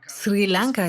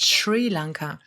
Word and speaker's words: Sri Lanka: Es heißt Sri Lanka. Es heißt nicht Sri Lanka.